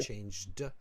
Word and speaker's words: changed: Changed the subject. Yes. I say changed. It's a dictionary problem. Yeah, you want to really pronounce that d there, okay.